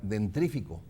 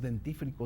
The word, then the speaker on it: dentífrico: un amigo que eh siempre pronunciaba eh la palabra dentrífico y yo alguna vez sí me animé y le dije, "Oye, es dentífrico, ¿no?"